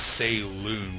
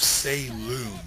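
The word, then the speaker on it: Saillune: care if you guys pronounce it as say loon with an L okay I'm going by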